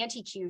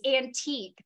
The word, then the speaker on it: antique: keep driving around to the anti-q shop because nobody had taught me that it's antique that it's kind of